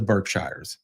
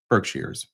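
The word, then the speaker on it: Berkshires: offer points in the Birkshshire Birkshars I've heard it pronounced both ways only 81 guest rooms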